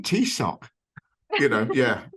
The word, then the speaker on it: Taoiseach: which is, I believe the pronunciation goes Taoiseach.